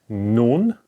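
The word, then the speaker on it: נון: noon in writing form how is it pronounced it's pronounced like no this is now the N okay like n like for example no okay so so far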